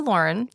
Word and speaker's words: Lorin: I keep thinking of like Lorne Michaels to remember that it's a boy not a girl. Even though it's spelled differently.